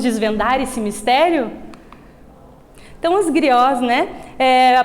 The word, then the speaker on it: griot: Então os griots, né? A pronúncia griot ou Djeli, né?